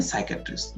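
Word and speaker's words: psychiatrist: पुनीता लोग बोलते हैं साइकैटरिस्ट जीव और यह बहुत ही इंपोर्टेंट है इसमें साइलेंट होता है ठीक है इसका प्रभाव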